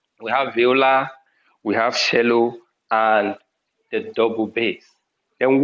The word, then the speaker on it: cello: double bass violin viola cello is written in cello what is pronounced cello then double bass strings